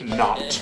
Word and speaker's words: knot: and spell the word not k-n-o-t not spell the K say it like it's not there not the knot